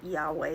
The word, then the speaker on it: Yahweh: And in Hebrew, it's spelled YHVH, but we pronounce it Yahweh with a W.